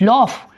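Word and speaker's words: laugh: लफ eight य लफ एल यू जीी एच लफ लफड मजाक उड़ाए आपका तो क्या करेंगे आप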